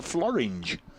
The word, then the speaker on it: Floringe: And then he also goes on to say, and there is a hill in Wales called the Floringe. Which rhymes with? Well, porridge.